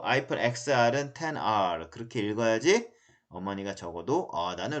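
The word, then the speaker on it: iPhone XR: 그 아이폰 10이라고 읽어야 되죠. 그쵸? 뭐 아이폰 XR은 10R 그렇게 읽어야지 어머니가 적어도 나는 로마 숫자를 잘 알고 있어.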